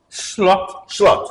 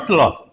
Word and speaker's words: Slot: How is pronounce his name? Slot. Slot, not sloth. No. Okay, Slot. I just making Not slot. slot or slot. It's slot. Slot.